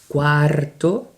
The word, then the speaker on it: cuarto: Cuarto. Can you repeat? Cuarto, cuarto, cuarto. If you can pronounce the R, just make your tongue roll a little bit, make some sort of noise. Cuarto, very, very light.